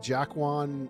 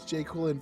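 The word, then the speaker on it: Joaquin: He looks like Jaquan uh Phoenix. How How do you say his name? The Joker. The guy who played the Joker. Jaquan Jay Quillin. It's Jquin Phoenix.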